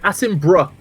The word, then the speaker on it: Attenborough: Otherwise, I could just be like, yeah, I'm pronouncing your name Elaininus. Yeah, that's actually right. Attenborough is pretty much correct.